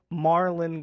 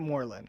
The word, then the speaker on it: Morlon: to you is it Marlin or is it Moreland so it's pronounced Marlin like it's spelled m-a-r-l-o-n but yeah actually spell